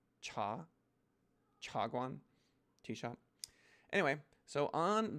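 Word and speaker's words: 茶: is mandarin for tea if you want to pronounce it right it's a rising tone it's not cha it's not cha it's not cha it's cha chagwan t-shot anyway so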